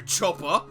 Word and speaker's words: choppa: keeps lauricus alive please put the chopper down it's it's pronounced choppa and i will if